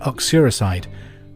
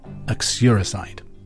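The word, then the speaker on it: uxoricide: who so question number two if you committed oxuricide who had you killed I'll spell it for you you x-o-r-i-c-i-d-e acuricide question number three the city of Zurich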